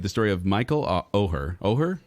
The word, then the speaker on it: Oher: story of Michael Oher oh her is how you say it or or Michael or yep a homeless and traumatized